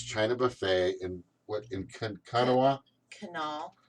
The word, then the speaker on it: Kanawha: Canal. They say canal, but I think it's supposed to be Kanawha.